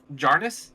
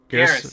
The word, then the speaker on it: Garrus: Jarnus? Is that how you say it? The one with the alien with the messed up face? Garrus? Garrus? Garrus, yes.